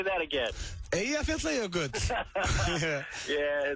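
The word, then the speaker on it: Eyjafjallajökull: Eyja, Fjalla, Jökull.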